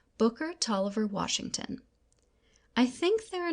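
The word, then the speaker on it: Taliaferro: Later in my life, I found that my mother had given me the name of Booker Toiver, pronounced Talver. soon after I was born,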